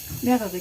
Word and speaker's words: mehrere: Mehrere Karotten. Mehrere. Re. It's like the R in the back.